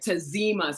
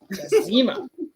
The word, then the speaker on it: Tazima: Tazima. So sass on the Z. That's how to remember it. Sass on the Z. Tazima.